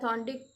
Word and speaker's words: थॉर्नडाइक: ठीक है, और थॉर्नडाइक, थोड़े लोग शायद थॉर्नडिक कहते हैं, लेकिन you know proper nouns can be pronounced in any ways, but famous जो है थॉर्नडाइक थियरी है।